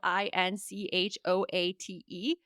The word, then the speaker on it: inchoate: It is spelled Inchoate. And it's now I'm gonna butcher the pronunciation. Inchoate. Inchoate. It's called inchoate.